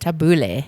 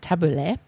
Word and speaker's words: tabbouleh: I think it's pronounced tabbouleh, not tabbouleh, as I said before, is a delicious hearty salad.